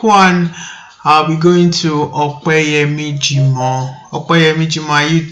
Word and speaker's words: Opeyemi: My name is Opeyemi Jimo, and I'll prefer you call me Opeyemi. Okay. And if you cannot pronounce that, just say Ope.